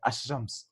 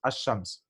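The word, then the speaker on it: الشمس: So what they did was they skipped the pronunciation totally and said Ashams, Ashams, right?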